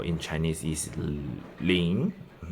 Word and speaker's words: 零: So when I say pronounce 零 at the end of 零, my tongue position is still at here. My nose is still working. 零. And the position of my tongue is still raising up.